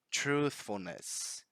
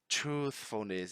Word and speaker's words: truthfulness: Truthfulness. Truthfulness. And here again, another tricky sound. Truthfulness. Because now we have the voiceless TH linked to the F letter.